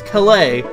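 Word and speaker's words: Kalay: We'll return Hammett to why can I not pronounce this? I know how to say it. It's Calais, but I just can't say it!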